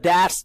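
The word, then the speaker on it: debts: दूसरा element liabilities, मैंने आपको बताया, liabilities are द डेट्स, डेट्स, B silent. अक्सर लोग इसको गलत प्रोनाउंस करते हैं, डेट्स, नॉट डेट्स, डेट्स, B silent, डेट्स।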